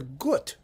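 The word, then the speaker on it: Guth: the capella estropolitana under peter good or guff if you want to pronounce it that way g-u-t-h leading evidently from his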